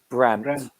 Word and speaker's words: Brandt: How do you pronounce that? His name? Brandt.